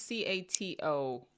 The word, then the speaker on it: Cato: the I think it's c-a-t-o like a discussion I think it's pronounced Cato um but it was